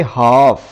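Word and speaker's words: half: पर लिखा हुआ है इसलिए यहां पर एल हो जाएगा साइलेंट इसे हम पढ़ेंगे हाफ बिहार जैसे ही एफ से पहले तो वहां पर एल अपनी आवाज़ जो है वह खो देगा पीछे जो हमने देखे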